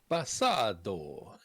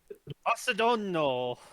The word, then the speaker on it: Basadono: Basado. Basadono. You missed a syllable there, Braxon. Oh dear. Something will blow up then. Yeah. Yep. Basadono.